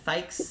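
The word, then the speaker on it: Thaix: is nero n-e-r-o um last name is fyx that's going to be i t-h-a-i-x it rhymes with yikes yeah and the mom's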